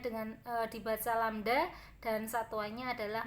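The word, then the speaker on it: lambda: satu gelombang atau lamda jadi lambangnya seperti itu dibacanya dengan dibaca lamda dan satuannya adalah m eh simpangan terbesar disebut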